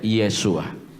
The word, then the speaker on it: Yeshua: Ellos entonces van a decir que el nombre se pronuncia es Yeshua.